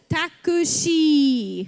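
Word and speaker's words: タクシー: And it's like a long E on the end with the dash, okay? So it says takushi, okay?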